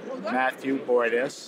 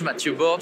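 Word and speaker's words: Mathieu Bordes: So I'm with Matthew Bordeaux, or how would you pronounce it? At Château Lagrange, Mathieu Borde from Château Lagrange, wine Matthew, I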